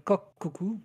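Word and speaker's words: Kokoku: en 12 épisodes euh qui s'appelle Coc Coku. Enfin, ça s'écrit K O K O K U.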